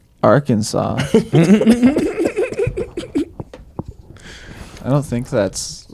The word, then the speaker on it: Arkansas: Like Arkansas, you would expect that S on the end to be a W, but we call it.